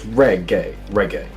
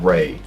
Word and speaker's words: reggae: So it's reggae. The the e is short, not reay.